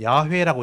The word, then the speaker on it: 야훼: 되고 이게 좀 정상대로 원래대로 바람을 하고 싶다면 야훼라고 보시면 돼요 여호와 하나님 야훼 하나님 똑같은 겁니다 자 아무것도 같은데 발음이 좀 다른 거예요 그래서 다윗은 여호와는 이름을